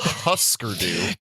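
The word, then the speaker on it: Hüsker Dü: it who screwed you it is husker husker dude clearly he does not read umlauts they go on husker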